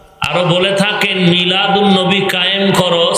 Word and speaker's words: মিলাদুন্নবী: করা হবে তখন হবে মিলাদুন্নবী আলিফ লাম লেখায় আসবে পড়ায় আসবে না সিরাতুন্নবী যেমন বাংলাতেও দুই